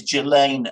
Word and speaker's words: Ghislaine: She's, by the way, correct pronunciation, I believe, is Ghislaine Maxwell. Somebody who knows her or knew her told me this.